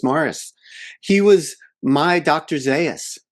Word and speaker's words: Maurice: Hutchinson played by by Morris Evans, uh, spelled Maurice, but pronounced Morris.